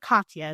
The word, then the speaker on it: Katya: names correctly, so I'm going to go with Katya.